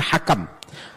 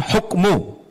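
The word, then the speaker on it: الحَكَم: Alaihissalam alhakam bifathi wasatih bacanya Hakam bukan hukmu karena kan kalau tak ada harakat bisa kita baca alhukmu atau alhikamu tapi disebutkan alhakam alhakim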